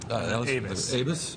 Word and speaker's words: Aybes: I'm joined right now by Aybes, how you pronounce it? Aybes, Strava mobile developer.